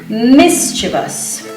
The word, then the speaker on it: mischievous: The correct pronunciation is with 3 syllables.